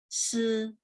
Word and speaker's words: 四: 一、二、三、四、五、 Oke, 2 sama 4-nya masih perlu ditekan lagi, Bu. Ya, 2 nada 4, 二、 2. Terus 二、 4, 四。